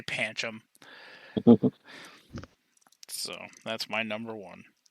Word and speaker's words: Pancham: it it's panchum yup pancham however people want to pronounce it i say panchum so that's my number